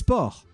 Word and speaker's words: porc: In French, it's a C. And it's silent. It's porc.